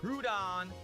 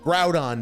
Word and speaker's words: Groudon: So yeah, Groudon, Dave, Groudon, because it's a ground type and it's invoking the ground.